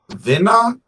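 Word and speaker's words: Venna: yeah the name of the artist I believe is pronounced Vena v-e-n-n-a featuring the single and Mick Jenkins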